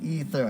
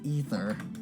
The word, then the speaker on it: aether: don't worry excuse me ether i think is how it's actually pronounced it's spelt aether but it's actually pronounced ether you the halt what's